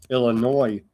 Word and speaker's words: Illinois: It premiered in Chicago, Illinois with no S. The S is silent.